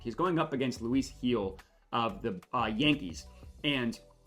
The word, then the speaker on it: Gil: that and G or heel sorry it's pronounced spelled Gil but heel has just not been